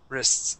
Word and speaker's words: wrists: So, um my eyes took in slender wrists and wrists. Yeah, we say it so quick.